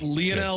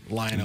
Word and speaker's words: Lionel: Lionel would be the, I guess, Argentinian way to pronounce it. Lionel Okay. would be the American way.